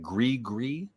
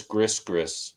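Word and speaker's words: Gris-Gris: How do you say that? Gree. Or Steve Marriott, he says Gris.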